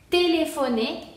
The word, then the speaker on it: téléphoner: PH se pronuncia como F, telef. Y aquí tenemos una E final que sí se pronuncia porque tiene acento. Y entonces sería téléphoner.